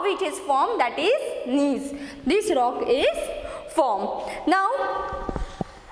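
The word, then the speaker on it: gneiss: slate then next is knees here g is silent your g is silence how it is how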